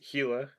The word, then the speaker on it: Gila: and and then uh gila woodpecker obviously is gila like gila monster and it's just for